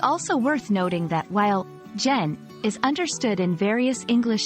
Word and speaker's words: gen: Learners make one mispronunciation it's pronounced like the beginning of genuine and not gen two overuse as with